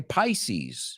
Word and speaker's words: Pisces: Life in Pieces, en trozos, en piezas, que no se pronuncia igual que Pisces, hemos dicho, ¿no?